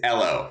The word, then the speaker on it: Elo: It is Elo. As in hello. Okay, I think I've probably said it both ways is how I'm feeling right now, but um so so prior to Elo Life, you said you